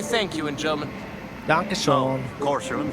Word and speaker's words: Dankeschön: In German, you have all these alphabet letters that got the dots on them, and you gotta say it right, because the Germans get real fucking offended by that shit.